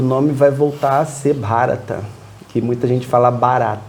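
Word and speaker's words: Bharat: plebiscito e o nome vai voltar a ser barata que muita gente fala bar n mas é BH bha e é a pronúncia diferente de barata então provavelmente muita gente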